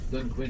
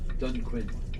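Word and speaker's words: Dunquin: yapping like ald fore for how do you pronounce that dun is it Dune D it means for D Quin dun Quinn is the name of this area here that's C is yeah dun Quinn see see the H is silent they pronouncing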